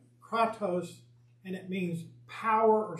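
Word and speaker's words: κράτος: It means, it's pronounced kratos, and it means power or strength.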